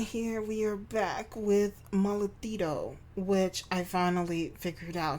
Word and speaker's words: Mollitudo: Hey guys, my name is and here we are back with Malito, which I finally figured out how to say the word.